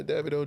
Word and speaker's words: Davido: All right, Davido. That's how you say it, right? Davido. Yeah, Davido. Davido. They say it all kinds of ways.